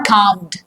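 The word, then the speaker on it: calm: So cool down means become normal right और काम्ड। अब काम यहां पे एल इज़ साइलेंट।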